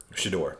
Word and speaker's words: Shedeur: Shedeur, yeah. That's how I pronounce it.